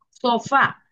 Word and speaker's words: sofá: Sofá es la última. Miren acá. Sofá. La última sílaba es la fa.